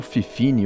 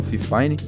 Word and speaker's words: Fifine: O Fifine K688, ou Fifine, ou Fifine, né? Cada um pronuncia de um jeito, eu por onde falo Fifine.